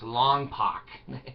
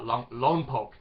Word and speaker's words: Lompoc: It's pronounced Tooele. It reminds me, in California we had Lompock, and people would say it's Longpock. No, in California we call that Lompock.